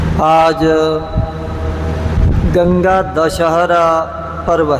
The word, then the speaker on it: दशहरा: कि यह भी गंगा दशहरा वह दशहरा यह गंगा दशहरा लेकिन उस प्रकार का यह दशहरा नहीं इसको विच्छेद करके उच्चारण किया जाता है दाश हरा आज के दिन गंगा